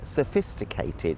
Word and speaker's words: sophisticated: You get other words like sophisticated. So you've got s, fis, t, k. All these different sounds, difficult. Sophisticated, the emphasis is on the second syllable.